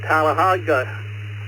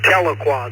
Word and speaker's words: Tahlequah: Bill from Tallahassee, Oklahoma. I know I butchered it again. N5JOJ. Yeah, that's Tahlequah there, but that's okay.